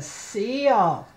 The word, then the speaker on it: seal: That's a seal. Look, it has E and an A. You only hear the E. Seal.